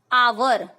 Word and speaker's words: hour: Hour.